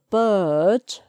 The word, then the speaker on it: bird: Okay, so the bird, d, so no R there, that's a silent one.